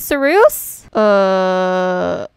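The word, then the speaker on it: Cereusye: Hi, my name is Sarus. Can you like spell that? Sure. C-E-R-E-U-S-Y-E. Sarus. Isn't that Saruse? It's pronounced as Sarus.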